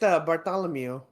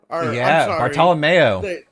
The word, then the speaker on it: Bartolomeo: They introduced Bartholomew. Bartolomeo. Bartolomeo. I hate that. That's how you pronounce it, dog.